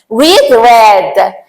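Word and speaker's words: read: یه کلمه ر ظاهرش که تغییر نمی‌کنه ولی تلفظش تغییر میکنه رد پس اگه یه جا گفت بک یعنی کتاب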